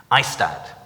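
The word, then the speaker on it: IAASTD: ISTAD is how you pronounce that.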